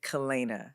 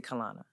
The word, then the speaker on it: Kalana: you say your name my mother named me Kena Kena that's how I say and that is how it's that is how it's pronounced um you'd be surprised